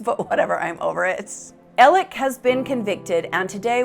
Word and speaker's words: Alex: apply to you so his name is pronounced Alec even though it's spelled a-l-e-x but whatever I'm over it elec has been convicted and